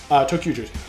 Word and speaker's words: Tokuger: These Resha are driven by 5 warriors known as the Tokugers, which, by the way, Tokuger is spelled T-O-Q-G-E-R. So literally T-O-Q. Tokugers.